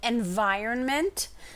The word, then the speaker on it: environment: any word is definitely environment. There's an N in there that people always forget to write, okay?